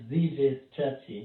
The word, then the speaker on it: Zjscratchy: It's Zjscratchy. Zjscratchy. You cannot say the S. The S is silent? No, it's Zjscratchy. Zjscratchy.